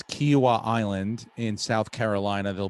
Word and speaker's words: Kiawah: to say it but i think it's kiwa uh and it's uh it's not quinoa oh yeah they're doing the commercial that's funny anyway um it's kiwa island in south carolina